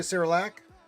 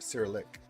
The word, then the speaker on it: Cyrillic: Good to see you, Cyrilak. Sorry, Cyrillic. Cyrillic. It says Cyrilak, but it's Cyrillic.